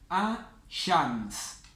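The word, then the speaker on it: الشمس: Entonces, en las solares vamos a saltearnos la L, no vamos a pronunciar la L, y la primera letra de la palabra la vamos a pronunciar doble.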